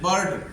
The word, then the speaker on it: bird: आ की ध्वनि में, जैसे बर्ड, बर्ड की स्पेलिंग क्या होती है, BIRD, बर्ड, लेकिन इसको पढ़ते क्या है, बर्ड। वहां पे देखिए आई नहीं आ रहा, आई क्या हो गया है, साइलेंट हो गया है।